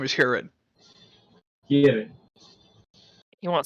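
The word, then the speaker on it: Hurid: I hate people like you my name is Herod you won't spell that for me it hurried yes we are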